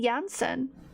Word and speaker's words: Janssen: Yeah, because I met someone who had their last name spelled Janssen, and they pronounced it Jansen. I was like, huh, because it's like Swedish or something, or it's like European. But when I read it, I'm thinking Jansen, right? Jan, like January. But they pronounced it Jansen, and I don't know, I remembered it since then, so I was just like, okay.